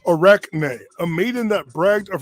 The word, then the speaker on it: Arachne: ovid tells us the tale of arcane or is actually pronounced arachne a maiden that bragged